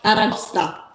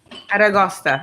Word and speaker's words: aragosta: Aragosta. Aragosta.